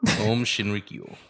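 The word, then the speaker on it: Aum Shinrikyo: Om Shinrikyo. I was so right. Om. Om. Like calm. Om. Shinrikyo. Yes.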